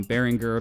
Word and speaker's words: Behringer: first thing is about Behringer say what you will about this pretty divisive company um Beringer that's apparently the actual pronunciation as I just learned today um they've been pretty